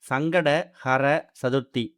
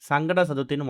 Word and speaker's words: சங்கடஹர சதுர்த்தி: கண்டிப்பான முறையில சங்கடகர சதுர்த்திய முழுமையா உச்சரிக்கணும். சங்கட ஹர சதுர்த்தி அப்படின்னா நம்மளுடைய சங்கடங்களை வேரோடு தீர்க்கக்கூடிய சதுர்த்தின்னு அர்த்தம். ஆனா அதை விட்டுட்டு நிறைய பேரு சங்கட சதுர்த்தின்னு மொட்டையா சொல்றாங்க. அப்படி சொல்றதால சங்கடங்கள் தீராது, சங்கடங்கள் அதிகமாக தான் ஆகும்.